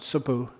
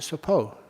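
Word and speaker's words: สบู่: And that was very simple word, sabu. But I pronounce it sapo. And sapo means pineapple.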